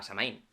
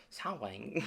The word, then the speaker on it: Samhain: el mes de noviembre se llama samaín Bueno creo que es más como sawain pero bueno a ver